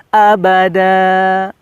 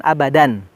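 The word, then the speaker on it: أَبَدًا: h&co ohagi seperti itu abadai disini bacaannya di patahkan karena dia hukumnya Made hewan ya madyawati itu apabila Fatah Tain Fatah Tain di akhir ayat ya maka dibacanya abada seperti itu jangan abadan Hai Robbi ya Allah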